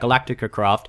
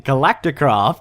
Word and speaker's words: Galacticraft: I don't like about Galactica craft I did it again I said it wrong again galacticraft to correct myself I'm